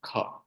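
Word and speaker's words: ख: And the common thing that is, let me tell you, this is kha.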